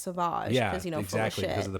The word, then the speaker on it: Sauvage: think like well it's spelled Savage but it's pronounced sauvage yeah this is the pronunciation yeah it makes